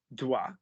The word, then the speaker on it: dois: So what you wanted, tu dois. What the vowel journey would be is ua. And the real French is actually halfway in between the two and probably closer to the vowel journey.